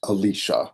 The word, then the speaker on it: Elisha: the Old Testament, with the prophet Elisha that some people pronounce Alicia.